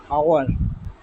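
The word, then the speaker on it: hour: आ रहा है ऑनर आवर honest तो यहां पर एच का आवाज साउंड जो है वो साइलेंट है उसका आवाज जो है साइलेंट है एच अपना साउंड प्रोड्यूस नहीं कर रहा एच जस्ट लगा हुआ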